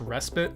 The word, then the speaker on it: respite: It's pronounced respite.